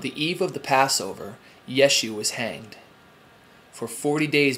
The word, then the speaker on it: Yeshu: Yeshu is how you pronounce Jesus in Hebrew.